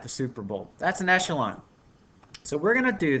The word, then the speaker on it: echelon: Echelon.